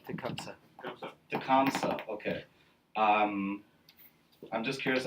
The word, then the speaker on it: Tecumseh: Telmuke? Did I pronounce his name right? Tecumseh.